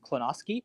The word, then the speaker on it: Klonosky: And her last name, it is pronounced Klonosky.